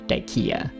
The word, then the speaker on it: Dyckia: Excuse my German, but his name was Josef zu Salm Reiferscheidt Dyck, so it seems more correct to pronounce the name as intended Dyck than add the ending ia for Dyckia.